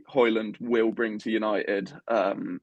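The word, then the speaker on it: Højlund: his name so yeah the thing at the end is like silent you kind of hold the end for an extra second so it's like okay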